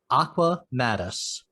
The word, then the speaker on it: Aqua Maddas: author who just released her first book called aqua mattis did i pronounce that one right that's perfect absolutely perfect